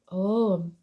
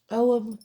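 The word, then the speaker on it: ogham: Willow in the oh om cuz the G is salad o g h a m om staves the meanings and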